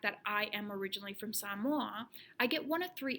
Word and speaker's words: Samoa: Two, Somalia. Oh, no. Oh, Samoa. Oh, Samoa. That's how you pronounce it.